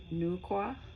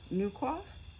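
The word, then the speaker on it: Nüwa: At the time of what the Hopi and Shanti people of northern China call the great chaos in the universe, Nua, pronounced Nuqua, Nqua, the dragonbodied goddess, dragon body, came to restore order.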